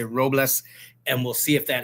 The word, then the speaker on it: Robles: Is it Robles? Man, you said it better than most. Yeah, man, it's good. You didn't roll the R, but man, I don't expect you to roll the R, but it's fine.